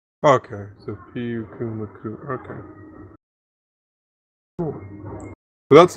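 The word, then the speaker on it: Pyukumuku: The thing about all the Hawaiian names is that you pronounce every single vowel. Okay, so Piu Kumu Kumu.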